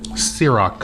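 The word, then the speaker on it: Cîroc: goose you want a bet what's it called sirak how do i spell it c-i-r-o-c it's french okay i'll give it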